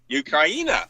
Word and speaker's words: Ukraina: People call it Ukraine, but I call it Ukraina. It's actually pronounced Ukraina. That's that's how they pronounce it.